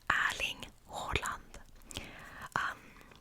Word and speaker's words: Erling Haaland: If you're curious, it is pronounced Erling Haaland.